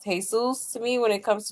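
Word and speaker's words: Jesús: Yeah, it's crazy that she calls him Jesus Jr. Didn't sacrifice for me or anyone else. I say it the Spanish way. Right, Jesus. Nah, for real. Because that's actually how it's supposed to be pronounced.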